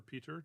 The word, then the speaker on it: Piotr: One of them comes from Piotr or Peter, depending on whether or not you go the Polish pronunciation or not.